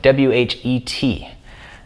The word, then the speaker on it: whet: Now, you don't actually pronounce the H in whet, but I'm just doing that so you can make sure to tell the difference.